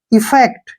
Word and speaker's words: effect: इसको ध्यान से देखिए, यहाँ पे ई का जो उच्चारण होगा वो हम करेंगे ई के रूप में और डबल एफ से हो गया फे और ई से ए की मात्रा हो गई और सी का जो उच्चारण है कै के रूप में करेंगे और टी से टे। इफेक्ट, क्या पढ़ेंगे इसको? इफेक्ट।